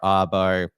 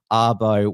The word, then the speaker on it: Abo: said never trust and arbo with something as important as that now the way that sarah arbo's name is spelled it sounds like avo which is a shortened name for australian aboriginal and so many uh